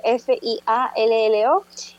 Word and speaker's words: Fiallo: En Instagram estoy con una sola L, Fiallo Flor. En Twitter, Fiallo Flor, Fiallo es Fiallo.